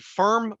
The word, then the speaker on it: Pherm: It was an event at the Firm Brewery, that's spelled PHERM Brewery, and it's in my